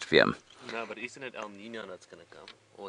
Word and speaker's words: El Niño: through these areas, and you have to say it like that, otherwise it just doesn't sound right, does it, Willem? No, but isn't it El Nino that's going to come?